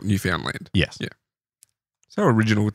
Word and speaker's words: Newfoundland: It's I think they call it Newfoundland, but not like Newfoundland. It's Newfoundland. It's spelt Newfoundland.